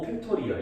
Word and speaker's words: 팩토리얼: 5 느낌표 이렇게 쓰는데 실제로 느낌표라고 읽는 건 아니고요. 5 팩토리얼 이렇게 읽어.